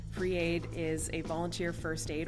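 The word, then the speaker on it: FR33AID: i started an organization called free aid it's spelled fr-33aid free aid is a volunteer first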